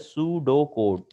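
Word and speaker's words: pseudocode: Algorithm के बाद एक और टर्म आती है सूडो कोड, which is pronounced as सूडो कोड।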